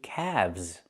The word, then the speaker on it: calves: Not calves, but calves. The L is silent and we pronounce the V sound with vibration plus the Z sound like zebra together.